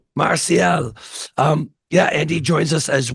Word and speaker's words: Marcial: Is it hard C or soft C in the middle? I'm not sure what either one of those are. MARCIAL? It's MARCIAL. MARCIAL.